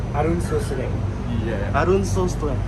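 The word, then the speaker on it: អរុណសួស្ដី: Say hi to Cambodia អ រ ុ ន ស ួ ស ្ ដ ី Arun Sosre.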